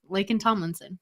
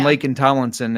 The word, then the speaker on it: Laken Tomlinson: Laken Tomlinson. Yeah. That's like really Tomlinson. Names. There's so many names. Okay. You know me. Yeah. Well, and Laken Tomlinson, it makes me think of like on Thor.